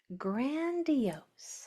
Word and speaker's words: grandiose: So we have g a n d e o s gr grandio grandiose.